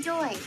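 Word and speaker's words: Dewey: do you keep saying doy it's his name Just Go With It how do you spell that d e w e y doy the W is silent oh honey I think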